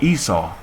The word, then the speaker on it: Esau: or they might see aishashawa in there which is hebrew for esau and then they might